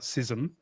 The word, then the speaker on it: schism: Well, the Greek word is schism, right? It's not it's not sism. Uh it's it's pronounced both ways in English.